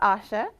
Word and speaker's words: Asha: ready for hat head my name is asha just two little syllables whose root derives from